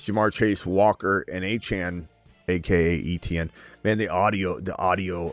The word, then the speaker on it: Etienne: to keep telling people my name's A-Chane, not ETN. It's pronounced A-Chane.